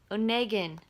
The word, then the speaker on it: Onegin: I look pretty damn tired I learned something Onegin that's how it's pronounced I was wrong at the beginning anyway